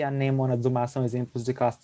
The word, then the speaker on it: anêmona: pequena confusão que ocorreu o certo é anêmona e não a Nena uma é difícil mais